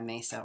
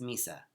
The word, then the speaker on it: mesa: done in Peru that we've been mispronouncing its Mesa but I still say Mesa because I always think of like setting the table for spirit but it's actually they it's Misa so I should probably